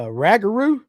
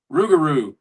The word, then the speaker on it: Rougarou: Jeff Brazil called it a ragaroo. Rougarou. Rougarou is the Bigfoot. Rougarou. A rougarou is the Bigfoot of Louisiana.